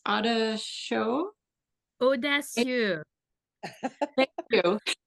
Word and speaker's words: Audacieux: used, as well as orange, and I can't pronounce it, but it's Audacieux. Audacieux.